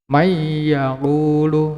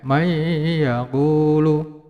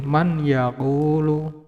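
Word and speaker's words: مَن يَقُولُ: May yaqulu, ya, may yaqulu. Tidak boleh man yaqulu, ya. Karena ini adalah hukum bacanya idgham bi gunah, ya, maka harus dileburkan dan didengungkan. May yaqulu, ya, tidak boleh man yaqulu.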